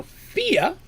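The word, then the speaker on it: Fiade: name is fia now fia for the record is spelled f-i-a-d-e now if you're wondering how in the world i came up with fia out of that that is an old gaelic name to scottish name and that's the traditional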